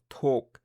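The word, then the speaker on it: ถูก: En initiale, on a le son T. La voyelle, c'est le OU long. Et la finale, c'est le K, donc TOK.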